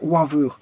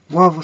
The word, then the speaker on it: Wavre: Voilà, alors ça se trouve podium NV, NV, Drevendal, 32, boîte 2860, Sainte Catherine Waver. Wavre, c'est à Wavre Sainte-Catherine. Voilà, Wavre Sainte-Catherine. Drevendal, ça s'écrit Drevendal.